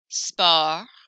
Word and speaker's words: sport: Français, français, sport, sport, vous, vous, salut, salut. So I don't hear those final consonants. I hear everything up until the final consonant.